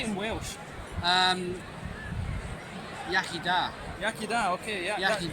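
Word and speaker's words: Iechyd da: Yaki da.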